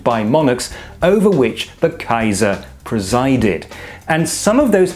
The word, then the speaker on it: Kaiser: on the title of Kaiser, which is quite simply the Latin Caesar, but pronounced the German way.